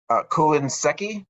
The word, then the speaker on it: Seki: Was it Seki? Is that pronounced right? Yeah, so he's the primary Bushi you studied. Is that correct?